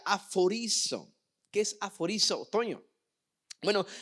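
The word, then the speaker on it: ἀφορίζω: La palabra apartado, obviamente lo clasificamos como santo, es apartado, pero santo o apartado tiene que ver con una palabra griega que se pronuncia aforizo.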